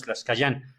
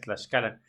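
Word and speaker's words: Tlaxcallan: Tlaxcalan, Sí, porque además no es Tlaxcayán, eso también está fuera de lugar, es Tlaxcalan.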